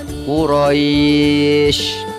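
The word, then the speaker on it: قُرَيْش: berhenti membaca maka dibacanya yang tadinya Kuraisin dibaca menjadi Quraisy Begitu juga dengan kata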